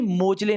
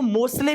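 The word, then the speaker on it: Moseley: है ना हेनरी मोजले अब कुछ लोग बच्चे इसको मोसले भी बोल देते हैं तो कोई दिक्कत नहीं है कि जब इसकी इंग्लिश की स्पेलिंग लिखी जाती है तो एस ई आ जाता है तो कोई बात नहीं आप हेनरी मोजले बोल देना है ना अगर किसी के मुंह से मोसले निकल गए तो कोई बात नहीं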